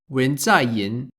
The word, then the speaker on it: 文在寅: South Korean President Moon Jae-in is written and pronounced as 文在寅，也就是共同民主党的总统。 Wen Zai-yin.